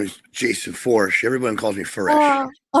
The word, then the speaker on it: Foersch: Porsche with Forch. There you go. Okay. I'll remember that now. Say, Yep. I keep saying foresh.